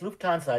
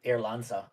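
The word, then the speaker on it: Lufthansa: Yeah, it's Luansa. It's Lufansa. It's not Lansa.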